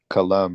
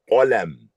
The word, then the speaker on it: قلم: Well, I know that pen is kalam, right? The pen is qalam.